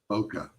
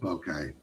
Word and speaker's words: bokeh: And that's an effect called bokeh. It's also called bokeh. Okay. Either way, it means the same thing, but it's spelled like this. Pretentious folks like to call it bokeh. I always saw it phonetically. First time I saw it, it was laid out as bokeh. But either term is correct.